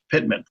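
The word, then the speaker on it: PTMAN: example the PT ma n Waypoint would be pronounced Pitman the proposed flight procedures are colored purple for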